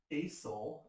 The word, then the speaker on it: acyl: here we're going to call this an acyl group a cyl so you pronounce it acyl it's funny of that